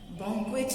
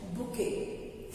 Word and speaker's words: bouquet: Pronunciation इसका है बुके। We pronounce this word as बुके, not boquet.